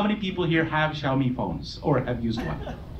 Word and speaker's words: Xiaomi: Xiao like in shower, me like me.